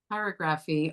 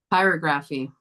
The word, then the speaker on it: pyrography: just one moment, but you pronounce it a little differently than what we're used to hearing. pyrography. Pyrography. I was hearing a different word.